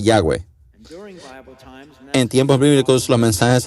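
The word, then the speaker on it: Yahvé: impronunciable ebro de dios y h w h que se dice yagüe en tiempos bíblicos los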